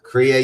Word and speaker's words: Kriya: How did you pronounce it? Kriya yoga? Yeah. Because you integrate these two. So I was wondering how hypnotism fits in. So with Kriya yoga, right, you are preparing the body, you're preparing the mind.